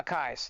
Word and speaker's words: Akai: they do the a car I'm never gonna pronounce that correctly because never mind uh akais there we go there it is um and